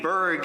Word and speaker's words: Burg: to clarify for people the family name Berg is pronounced the same in English whether you spell it b-u-r-g or b-e-r-g but in Hebrew I